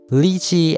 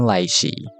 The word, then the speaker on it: lychee: Before you come at me, both ways to pronounce the word is correct, lychee and laichee. Lychee is close to the Mandarin pronunciation and laichee is close to the Cantonese pronunciation.